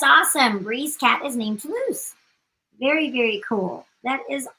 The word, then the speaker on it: Toulouse: It is Toulouse.